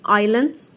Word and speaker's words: island: Then he said, when we were flying over the island, make a spot on S, silent letter, island.